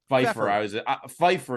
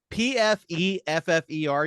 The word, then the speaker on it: Pfeffer: Pfeiffer is how I would assume you pronounce that. Pfeffer. You think Pfeiffer? I have known somebody with the last name Pfeiffer who spelled it like that. That's Pfeffer.